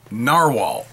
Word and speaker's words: Narwhal: You know, Nahvalur, or Narwhal. Now, I'm told it's pronounced the same way, even though the company changed their name.